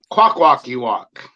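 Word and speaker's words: Kwakwaka'wakw: Kwakwakiwak.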